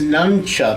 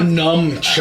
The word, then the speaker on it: nunchuck: first he's telling me, he goes, Dad, you're not even saying it right. It's nunchuck. It is not- nunchuck. It's not numchuck.